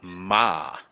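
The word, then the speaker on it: 马: It's ma.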